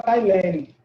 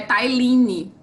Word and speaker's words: Tailine: Que é a questão da Tailene. Estou pronunciando seu nome certo? Gente, sou eu pronunciando. Vamos lá, 59. Não Marcos. Marcos. Fale. É Tailine.